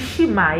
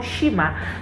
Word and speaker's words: Nshima: delicacy of Zambia that is called, is it Nshima? Yeah, I believe I pronounced it well.